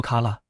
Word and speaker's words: 空: But on the level of wordplay, "Tsui no Sora" has many more meanings. 終 and 対 are both pronounced tsui.